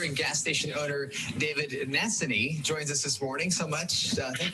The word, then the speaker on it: Nassaney: Nassany.